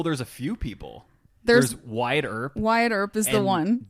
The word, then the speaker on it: Wyatt Earp: Wyatt Earp.